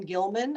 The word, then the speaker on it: Gilman: My name is Gilman.